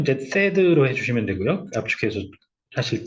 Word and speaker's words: THAAD: 단계 터미널 이렇게 터미널 하이얼티튜드 에리어 디펜스 THAAD 발음은 이제 THAAD로 해주시면 되고요.